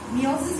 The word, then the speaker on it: meiosis: You have studied about meiosis, that is, meiosis you should actually pronounce as meiosis.